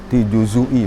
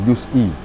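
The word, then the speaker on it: جزئي: juzuhu ala juzui maknahu dengan diharkatkan zai dengan dumah juzui bukan juzi juzui dibacanya juzui kama qhibah min riwayati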